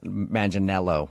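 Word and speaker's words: Manganiello: Uh, because we talked to him and he told us that a lot of people say he looks like Joe Mangel Manelo.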